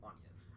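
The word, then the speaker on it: Agnès: And it was like, I mean, her name is Anya's, and it's spelled like Angus. It's Anya's.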